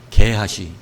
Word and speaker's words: 게하시: 그 이름하여 게하시. 발음 잘 하셔야 됩니다.